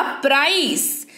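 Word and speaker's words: price: है, ई है, तो ई रहेगा तो स उच्चारण होगा, हो गया प्राइस, क्या हो गया, प्राइस।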